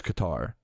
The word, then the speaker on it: Qatar: Who would do the same thing We're in Qatar.